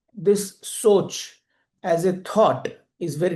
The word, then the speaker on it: सोच: In English, you can spell it like SOCH. In Hindi, which I prefer, it is Sa, O, or Cha, Soch.